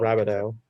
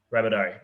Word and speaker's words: Rabadell: How do you pronounce it before you enter the vote? Well, Rabideau. Rabideau. Okay, beautiful.